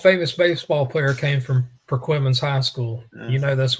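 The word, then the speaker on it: Perquimans: part of the state, they would be mispronouncing both of these. They call one of them perquammens, another one permans. Yeah. Sounds like some type of worsture sauce, but it is Perquimman's and it is Berti.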